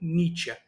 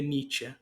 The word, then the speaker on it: Nietzsche: sentido extramoral de friederick nieta eu pesquisei a pronúncia é nieta não é niet como a gente costuma falar eh primeiramente né Eh